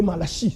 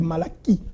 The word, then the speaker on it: Malachie: Malachie, que vous appelez Malachi, ce n'est pas Malachi, c'est Malachie. Tous les CH en hébreu se prononcent K.